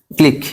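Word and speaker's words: clique: check মনে রাখতে হবে শব্দের শেষে কিউ ইউ ই থাকলে উচ্চারণ ক হবে ক হবে ঠিক আছে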